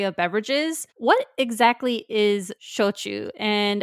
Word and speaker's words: shochu: Almost just think of pronouncing Spanish or maybe Italian. And if you do that, you're going to be pretty close. Now, Shochu is S-H-O-C-H-U.